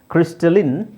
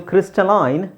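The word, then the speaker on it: crystalline: ಇಲ್ಲಿ ನೋಡಿ ಕ್ಲಾಂಡಸ್ಟಿನ್ ಇನ್ ಕ್ರಿಸ್ಟಲಿನ್ ಇನ್ ನಾನು ಹೇಳಿದೆ ಕೆಲವುದು ಕೆಲವು ಪದಗಳು ಎರಡು ತರ ಉಚ್ಚಾರಣೆ ಮಾಡ್ತಾರೆ ಇದು ಕ್ರಿಸ್ಟಲೈನ್ ಕ್ರಿಸ್ಟಲೈನ್ ಬ್ರಿಟಿಷ್ ಪ್ರೊನನ್ಸಿಯೇಷನ್ ಇದು ಕ್ರಿಸ್ಟಲಿನ್ ಅಮೆರಿಕನ್ ಪ್ರೊನನ್ಸಿಯೇಷನ್ ಅದು ಬ್ರಿಟಿಷ್ ಆಗಬೇಕು ಅಮೆರಿಕನ್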